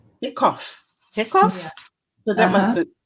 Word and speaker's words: hiccough: So then others may stumble, but not you, on, is that hiccup, Carol? I think it's cough. Hiccough.